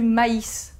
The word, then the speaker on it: maïs: rarement sur le U il indique qu'on doit prononcer cette voyelle de manière séparée par exemple on va dire du maïs on va pas associer